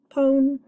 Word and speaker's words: pone: Silent E syllable, pone. Rhymes with phone, pone.